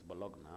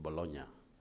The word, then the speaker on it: Bologna: When they write it's Bologna, but I think they pronounce it Bologna.